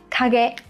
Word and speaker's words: 影: Đây là hai từ kanji có cùng cách đọc là kage.